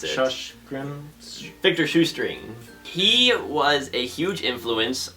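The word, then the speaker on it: Sjöström: And finally, it's worth noting that this film director, Victor Sjustrom, I believe is how you pronounce it. Victor Shoestring.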